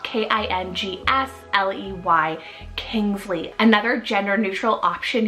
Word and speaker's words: Kingsley: and Essie means God's promise then I have Kingsley spelled k-i-n-g-s-l-e-y Kingsley another gender neutral option here for the